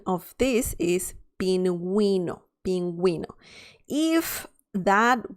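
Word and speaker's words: pingüino: the sound is okay so instead of saying pinging because that would be the sound without the vrs or the two dots you need to say pinguino we that is the sound okay so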